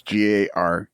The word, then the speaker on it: Gartner: With John, the T was silent. With yours, the T is there, and it's meant to be pronounced.